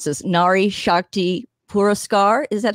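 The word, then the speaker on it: Nari Shakti Puraskar: difference i i'd like to say i can pronounce this nari shakti pura scar is that how you say it you did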